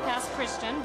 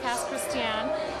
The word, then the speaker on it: Pass Christian: is how they say it it looks like past Christian but it's pronounced P Christian it's a very small town between New Orleans